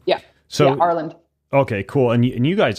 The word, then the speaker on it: Arlynd: So that guy, the guy that you married, you're talking about Arlynd? Is that how you pronounce his name? Yeah. So, yeah, Arlynd.